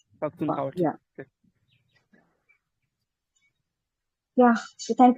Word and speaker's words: Pakhtunkhwa: yes, Okay, Pakhtunkhwa. Pakhtunkhwa.